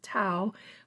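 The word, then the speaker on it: Tau: it is T auau I think that's pronounced Tao but please forgive me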